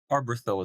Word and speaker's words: Arberthil: I've got is it Arberthil? I usually could just call you Yep. Arb, but what's the proper pronunciation here for your handle? Arborthil is great.